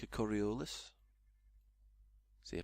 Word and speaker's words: Coriolis: Looks like a Coriolis. See, I pronounced it right that time.